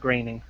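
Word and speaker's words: Groening: groaning scening gr gring it's groaning isn't it no it's pronounced graining can can we get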